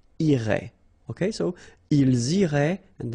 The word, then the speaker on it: irait: And then, il, masculine form, irait, final T not pronounced. So what you can see is that these form, and this form are actually pronounced the same way.